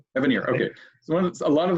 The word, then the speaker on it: Evanier: How do you pronounce it, Mark? What's his name? I think it's Evanier. Evanier.